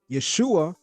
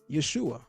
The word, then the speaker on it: Yeshua: And the shin is vocalized as shu, not sha.